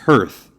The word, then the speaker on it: hearth: oh her name is the Queen's name is hearth uh kind of rhymes with Earth scream went off whatever